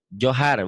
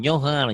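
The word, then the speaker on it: Johor: Johar Malaysia. Johar. Bukan Nyohar. Nyohar.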